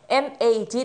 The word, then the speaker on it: mad: 뛰는 말할 수 있습니다 mad 를 발음할 때 맥을 만들고 메 알드 네 아주 약간 길고 입을 크게 벌려서 에 내야지 라고 합니다 팩트가 아니라 네